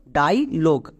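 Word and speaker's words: dialogue: কিন্তু এই ইউই এখানে সাইলেন্ট থাকবে। মানে এর উচ্চারণ হবে না। তাহলে পুরো ওয়ার্ডের উচ্চারণ কি দাড়ালো? ডাইলোগ।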